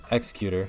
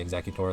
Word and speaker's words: Executor: to add the uh executor I always mispronounce that name I always want to say exactly tour like the Pokemon they're gonna add ritual